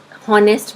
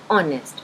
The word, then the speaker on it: honest: इसे नॉर्मली लोग हॉनेस्ट भी बोल देते हैं, बट इट is actually ऑनेस्ट because H इन ऑनेस्ट is silent.